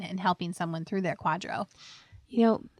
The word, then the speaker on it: QDRO: a 401k plan will need something called a Quadro in order to split it Quadro is spelled qdro o and it stands for qualified